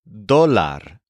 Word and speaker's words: dólar: For counting amounts of money, you might want the word dólar, which means dollar. This is spelled D-O-L-A-R, with an accent on the O.